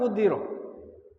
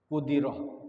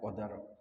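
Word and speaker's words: قُدِرَ: Waman qudira bidomil qaf wa kasriddal al-muhmalah kudiroh. Jadi bacanya kudiroh, bukan qadar.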